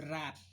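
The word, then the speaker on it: wrap: इसमें कौन कौन से साइलेंट है। जैसे रैप, रैप अप करो, चलो भाई बंद करो, बंद करो, रैप अप, तो ये RAP, W साइलेंट।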